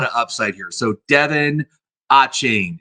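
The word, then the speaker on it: Achane: upside here so Devin achain it's a c h a n e but I believe it's pronounced a chain um of the Dolphins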